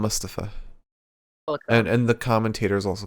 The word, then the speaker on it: Mustafa: Yeah, but now they've started saying it right. They call him Mustafa.